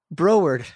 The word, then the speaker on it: Broward: or in Broward Broward oh Broward Broward County that's how you say that Broward I apologize America it's spelled Broward it's couple Bros and broard you know what I